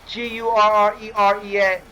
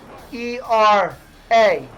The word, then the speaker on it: Guerrera: It's Gurrerea. Gurrera.